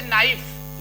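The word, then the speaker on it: knife: ऐसे नाइफ इतना पढ़ा जाएगा, ये छूट जाएगा तो ये साइलेंट हो जाता है एन के पहले।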